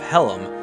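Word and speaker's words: Hallam: of this Legend while the area is called Helm which is spelled h a l l a m but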